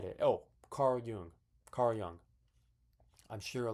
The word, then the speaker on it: Jung: Oh, Carl Jung. Carl Young. I'm sure a lot of you all watching this know who Carl Young is. Uh, his last name is Jun N. Carl Jung, but it's pronounced Young or something.